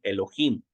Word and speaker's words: Elohim: del strong en español aquí viene la palabra hebrea Elohim y así como uno lo lee así se pronuncia aquí en el strong español Elohim Sí entonces la palabra